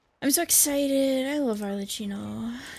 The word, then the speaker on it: Arlecchino: I love Arlecchino, even though I say your name wrong because I like the ch instead of the k. Arlecchino.